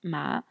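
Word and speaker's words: 马: Et à droite, on retrouve l'élément du cheval qui se prononce, lui, ma.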